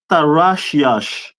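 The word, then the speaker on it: Tarshish: Tarashyash.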